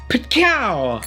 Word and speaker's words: Pitkow: That is Rob Pitkow! And that's definitely how you pronounce his last name.